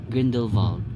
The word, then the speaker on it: Grindelwald: Grindelwald, pero nung pronounce sa train, Grindelwald, ganun siya, Grindelwald.